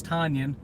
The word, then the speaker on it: Tonyan: Matt LaFleur isn't able to do all those wonderful things, and even though Robert Tonyan, it's Tonyan, he's saying it wrong.